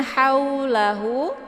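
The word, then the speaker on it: حَوْلَهُ: Kemudian haulahu, hau di sini ada waw sukun sebelumnya berharokat fathah. Ini dinamakan dengan harf lain. Cara bacanya cukup dilunakkan saja bacaannya. Haula tanpa harus dipanjangkan. Kemudian la ini dibaca lembut ya, la.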